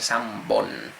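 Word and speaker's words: 三本: le puede poner, pero en este sí con comillas se convierte en bo. Entonces san se convierte en sambon.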